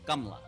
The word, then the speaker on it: Kamala: but my mom said really the proper pronunciation in the original name is gamla with two syllables that right exactly yeah